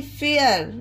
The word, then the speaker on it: fare: जब किसी वर्ड के अंत में ए के बाद RE आता हो। एग्जाम्पल में पढ़कर समझते हैं। FARE, फेयर।